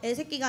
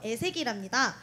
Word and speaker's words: 애새기: 아니, 서진씨, 발음을 똑바로 하셔야죠. 애새끼가 아니라 ST 새내기라는 의미로 애새기랍니다.